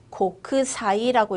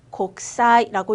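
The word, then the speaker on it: 国際: 국제는요. 고크사이라고 읽어주시면 됩니다. 고크사이, 곡사이라고 읽어주시면 되고요. 회의는 가이기가 되겠죠.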